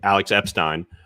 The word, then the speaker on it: Alex Epstein: Alex Epstein.